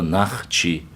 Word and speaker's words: нахчи: Именно исходя из этого слова нах, чи, древнее правильное произношение нашего народа, нах, чи. Именно так, да. Через А. О это более позднее, в 20 веке использовать начали.